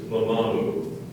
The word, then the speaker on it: mamamu: The word is mamamu.